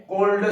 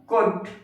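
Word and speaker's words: could: कैन कुड शुड वुड उच्चारण करते समय ध्यान रखना एन यहां पर साइलेंट होता है कोल्ड सोल्ड वुड आपको नहीं पढ़ना है। कुड शुड वुड may must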